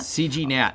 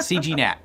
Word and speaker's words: CGNAT: Is that pronounced right, CNAT? CGNAT. Oh, CGNAT. We don't have to. The G's not silent? Yeah, the G's not silent. CGNAT.